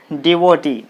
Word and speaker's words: devotee: d o t and this word is ending with ee so the stress should be on the last syllable what is the last